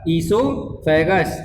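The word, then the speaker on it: oesophagus: फिर लिखा हुआ है हमारा ईसोफेगस। इसमें ओ साइलेंट है, इसको ईसोफेगस पढ़ते हैं हम।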